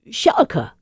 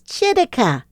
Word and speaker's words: Chitika: Chitika? Shaka? Chiquita? No, guys, it's Chitika. It may not be easy to pronounce, but it's easy to use.